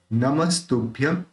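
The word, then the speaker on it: नमस्तुभ्यम्: ठीक है, देखिए विदाम्बर नमस्तुभ्यम नमस्ते वदतान्वर, यहाँ पे अपन ने इस जो ये जो बिंदी है उसका अपन ने म उच्चारण किया, क्योंकि उच्चारण का एक नियम है कि जहां से छंद के जो 16 अक्षर पूरे होते हैं तो उसका जो लास्ट अक्षर है उसके ऊपर अगर बिंदी है तो उसका उच्चारण अपन म करते हैं। जैसे लास्ट में अगर कोई आए या तो बीच में आए तो अपन उसका उच्चारण म करेंगे।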